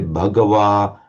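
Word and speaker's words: Bhagavā: If you want to try and pronounce it as close as possible to how the Buddha might have pronounced it, say Bhagawa and Sugdho.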